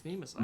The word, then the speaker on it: Nemesis: It's spelled Nemesis, but he's like, it's Nemasai.